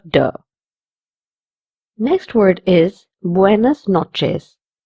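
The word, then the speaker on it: noches: Next word is buenas notes. This word has a ch in it. It will be pronounced as chill. Buenas notches which means good night.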